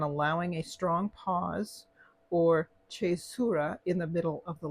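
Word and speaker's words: caesura: a strong pause or chura in the middle of the line the chura now some of you depending on how you pronounce your Italian your Latin might pronounce it the kisura usually comes after the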